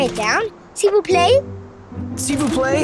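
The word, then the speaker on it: s'il vous plaît: down she will play seafoo play is how you say please in french of course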